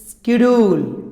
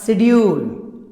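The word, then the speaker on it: schedule: देखो कैसे, जैसे स्कूल, स्कूल, स्कूल, तो यहां पर साइलेंट नहीं है, बोला जा रहा है, लेकिन नीचे देखो साइंस, साइंस, स्केड्यूल या शेड्यूल, स्कोल्ड, स्केयर, सकेयर नहीं है, शेयर नहीं है,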